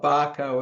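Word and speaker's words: Bahco: There's other brands like Barco and things like that. That's spelled B-A-H-C-O.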